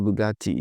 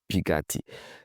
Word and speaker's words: Bugatti: So if you want to go with the French way of pronouncing it, you say Bugatti, Bugatti. Then if you want to go with the Italian way of pronouncing it, you say Bugatti. Bugatti, but you can just stick with Bugatti.